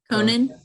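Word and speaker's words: Konan: yeah, Conan. Kogan, It's literally like Conan. Conan, like the person with a C.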